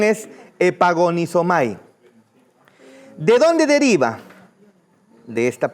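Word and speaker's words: ἐπαγωνίζομαι: Su pronunciación es epagonisomay.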